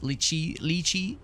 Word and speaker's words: lychee: Lychee is pronounced like cheese. Lychee, rather.